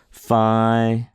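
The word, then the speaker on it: φ: it and so uh fi is pronounced like the ph sound so it's pronounced like an f f we we of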